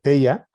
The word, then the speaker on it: Theia: La Tierra chocó contra este protoplaneta que se llama Theia, o Theia, según lo pronuncie uno, y expulsó todo este